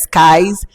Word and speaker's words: Sykes: The fourth on my list, it is spelled SYKES, Skies.